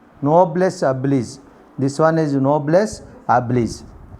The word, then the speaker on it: noblesse oblige: This one is noblesse oblige. Noblesse oblige.